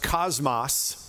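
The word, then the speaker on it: κόσμος: that each stands for the Greek word that is translated world is uh pronounced Cosmos it's where we get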